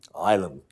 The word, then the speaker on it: Ilam: Ilam. Oh, sorry. This is my Māori pronunciation. Yeah. Ilam.